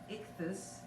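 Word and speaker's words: ἰχθύς: fish in the greek i-c-t-y-s pronounced ichthus it contained the greek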